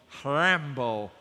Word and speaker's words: Rimbaud: French so let me try and call him ramble but I'm sure that something that's pronounced looks like Rimbaud he said something at